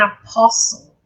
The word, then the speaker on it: apostle: Called to be an apostle. Apostle, você não pronuncia essa letra T.